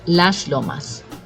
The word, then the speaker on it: Las Lomas: we have Las Lomas and most Chinese will pronounce it just like that last one and that's correct Las Lomas all right just underneath that we have Tortuga